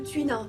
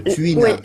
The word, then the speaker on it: Tui Na: le connaissait pas comment il s'appelle celui-là le Tuina le Tuina comment ça s'écrit t u i n a c'est le